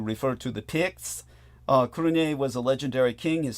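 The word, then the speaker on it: Cruithne: no idea okay but I know this is pronounced crun so the kinian were a people of early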